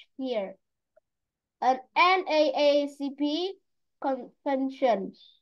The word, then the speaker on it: NAACP: an NAACP convention. Okay, teacher again, why is it an? Why an? Why not a NAACP? Because N is pronounced N. N.